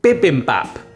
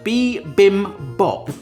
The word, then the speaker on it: bibimbap: will hopefully help make this amazing Korean dish biim Bop okay that's how I want to pronounce it but apparently it's pronounced B Bim Bop okay I'm going to get that wrong throughout